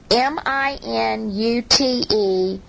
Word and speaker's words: minute: Minute or minute. M-I-N-U-T-E, pronounced minute, very small.